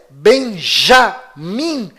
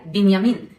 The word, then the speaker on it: בנימין: Esta pronúncia Benjamin Netanyahu é falsa. Inclusive, no hebraico não existe letra com som de J. E o filho caçula de Jacó se chama Benjamim, ou em hebraico, Binyamin, e vem da mesma